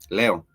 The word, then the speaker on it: leo: Leo. Leo, the star sign Leo, in Swahili we pronounce it as leo, and leo is for today.